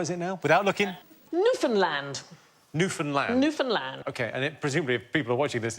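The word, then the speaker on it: Newfoundland: I did that I did that murder in New Finland no it's New Finland but actually both men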